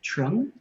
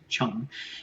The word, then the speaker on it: Trưng: It looks like Chung, but I am reassured that it's pronounced Chong.